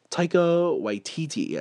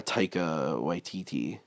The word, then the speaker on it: Taika Waititi: It's like Taika Waititi, I think is how you pronounce his name, the director.